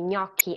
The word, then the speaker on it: gnocchi: And the other three, alghe, gnocchi, and gamba, are part of the suono duro.